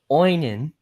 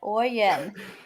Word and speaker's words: Oyen: So the tornado warning's still in effect for, I'm gonna screw this up, Oinen. Stop putting another N in there. Oyen. Oyen. There you go.